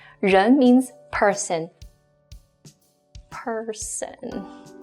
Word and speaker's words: 人: This component by itself is a character that's pronounced as 人. 人. 人 means person. Person. 人.